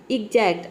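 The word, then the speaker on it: exact: मतलब होता है उदाहरण एग्जैक्ट और यहां पे देखिए आ का साउंड आ रहा है ठीक है एग्जैक्ट एग्जैक्ट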